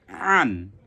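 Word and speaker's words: عً: হালকের কোথায়, মাঝ কণ্ঠনালীর মাঝখান থেকে উচ্চারণ হবে আন, আন।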